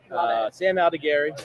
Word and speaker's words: Sam Aldegheri: Sam Aldegheri, am I pronouncing that correct?